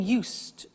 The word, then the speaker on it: used: continuous so I'm getting used to speaking Italian everyday listen to the pronunciation I said used with T sound used not use it